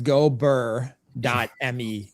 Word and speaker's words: gobrrr.me: I'm gonna butcher the name, but it's go burr.me.